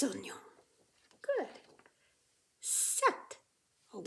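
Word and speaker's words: sept: 7. Oh, we don't even say that P. Just like in our number 8, we have all those letters we don't pronounce.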